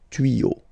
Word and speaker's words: tuyaux: Same rule, you don't pronounce it. Des tuyaux.